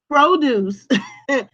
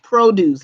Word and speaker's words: produce: Well, this word, produce, is a homograph because you can pronounce it as produce or produce. Do not confuse this with produce. Produce is where you go to the grocery store and you buy like the fresh produce.